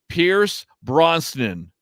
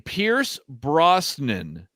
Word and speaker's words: Pierce Brosnan: right this is true pierce bronson no say it pierce bronson no here's bronson mike are you joking no i can't say his name pierce brosnan brosnan pierce brosnan yeah okay him too